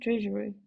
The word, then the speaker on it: TRSU: Users can stake TRSU, uh, it's pronounced treasury, yeah, into a liquidity mining